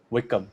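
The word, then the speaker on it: Wycombe: I think he's Yeah, pronounced it Wickham? Wickham, right? Yeah. Akin Fanwa is coming to championship.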